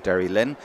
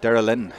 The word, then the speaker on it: Derrylin: And you might notice him falling into the local dialect, Derrylin. They don't even bother pronouncing the Y, as far as I know anyway.